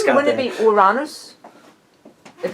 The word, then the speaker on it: Uranus: No, it's actually because the correct pronunciation would be Uranus.